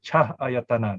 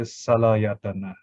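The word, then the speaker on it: salāyatana: This is cha, but we don't say cha ayatana. There's no such word, it's bad Pali. So it is salayatana, so the sound flows. Sal means 6, ayatana, but when you read it, you say salayatana, okay?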